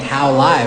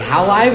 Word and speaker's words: HowLive: So it's kind of like tongue in cheek, but like Hal Live. Like how live is it?